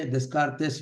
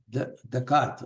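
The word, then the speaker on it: Descartes: और पेरिस में Renee देकार्त, ये जो स्पेलिंग है फ्रेंच स्पेलिंग है, रेने देस्कार्तेस वगैरह है, ऐसा नहीं बोलना है उसको, देकार्त, रेने देकार्त। ये उसका फेमस सेइंग ऐसा है, I think and therefore I एम।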